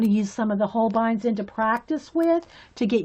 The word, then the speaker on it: Holbein: Oh, the word is German. Yeah. Okay, thanks. So, yeah, I've been pronouncing it right. Holbein. Yeah, they're Japanese made, but it's pronounced Holbein.